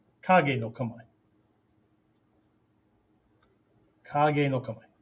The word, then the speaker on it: Kage: Kage, not cage, okay? Some of my screen names, Kage 36, not cage 36, okay? The K is always, and the G in Japanese is always a hard G.